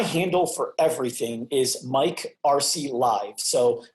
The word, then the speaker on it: Arce: for everything is Mike RC live so my middle name is a tricky one it's spelled Arce so it's just multi